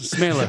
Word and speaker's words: Smeele: Did I say it right? Smeele? Smeele. Smeele. Yeah, like Michael Saylor. It's Dutch. It's Smeele. exactly.